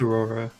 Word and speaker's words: Ororo: It's Aurora. okay. But it's spelled with the O instead of an A, right?